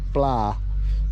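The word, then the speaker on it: ปลา: for catfish is and when you say pla that means fish right it's a it's a b and a p sound together right it's very hard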